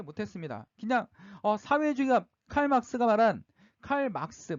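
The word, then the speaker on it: 칼 마르크스: 그냥 사회주의가 칼막스가 말한 칼 막스 마르크스죠 독일 사람이니까 칼 막스가 발음이 맞는데 독일 사람들이이 독일 사람 막스가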